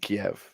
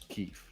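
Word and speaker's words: Kyiv: right so oh maybe we're going to start pronouncing the name right right so we everybody everybody was saying Kiev right yeah until last year when it became Keith right so oh I didn't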